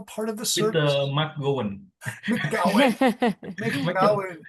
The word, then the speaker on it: McGowan: I had an uncle named McGowan because they mispronounced his name in New York when he came to America. They called him McGowan. So they pronounced that McGowan. McGowan. Yeah, but I'm McGowan is the original Gowan. So McGowan. So the correct one is McGowan.